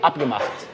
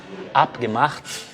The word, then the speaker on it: abgemacht: Combinado, abgemacht. Percebe a diferença? Então é isso aí. Quando você estiver pronunciando, por exemplo, abgemacht, lembra que a ênfase é no começo, tá? É no A.